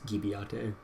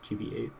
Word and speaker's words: Gibiate: If you assume it's a Japanese title, then you assume it's Gibiate, but no, it's GB8.